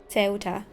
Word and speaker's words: Ceuta: That pronunciation was correct, okay. Ceuta. Ceuta?